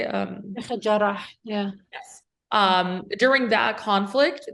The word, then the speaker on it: Jarrah: Jarrah, yeah.